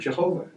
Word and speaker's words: Jehovah: Latin does not have a Y. It had a J. So they substituted a J for the Y. And they thought that that was the pronunciation, and they came up with the word Jehovah.